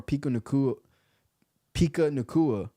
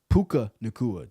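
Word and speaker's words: Puka Nacua: Tutu Atwell or Pika Nakua. Damn, bro. I can't even say this man's name right now. I suck with names, man. That's like my downfall. Puka Nakua.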